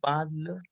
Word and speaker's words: parle: Why didn't you pronounce the E? We don't pronounce the E. That by default it is we are pronouncing parle.